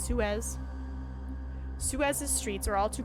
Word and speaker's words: Suez: me Google how pronouns Suez Susie how to pronounce sure Suez Suez Sue as thank you Tony Suez smack in the middle of the Suez Bazaar